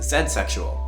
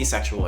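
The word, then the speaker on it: zedsexual: One that stands out is zexual or zexual if you want to use an American pronunciation.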